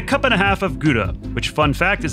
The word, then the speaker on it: Gouda: and a half of gouda which fun fact is a dutch cheese that's actually pronounced howda it's fun to make